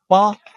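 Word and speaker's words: 八: eight B symbolize luck because ba the pronunciation is similar with the Chinese character far like which you get rich so far he also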